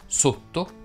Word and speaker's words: sotto: Fanno eccezione le parole rotto, sotto e ghiotto che si pronunciano con la O chiusa.